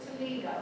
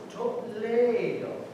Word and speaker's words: Toledo: I thought it was Toledo. No, it is pronounced Toledo. He says Toledo, he says tomato.